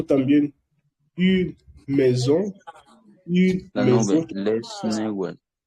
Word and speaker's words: maison: Así que por eso aquí lo pronuncia une maison, de maison. También no significa de maisons, es maison. ¿Por qué la S se pronuncia Z aquí? Porque cuando S está entre dos vocales se pronuncia Z.